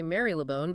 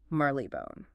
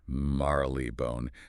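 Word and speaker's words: Marylebone: They say Mary Leone. But this this brings us right into the heart of the prescriptive versus descriptive linguistics debate. The sources confirm that the historically correct the prescriptive pronunciation anchored to my own university experience in the area should be merleone.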